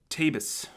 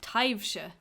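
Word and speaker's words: taibhse: cute so a ghost tabus taivsha that's how you say that because of all the letters that are there no overlap canaver look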